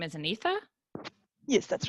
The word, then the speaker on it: Anitha: Just in it's your first name is Anitha. Yes, that's right. Okay, just want to make sure I was pronouncing that correctly.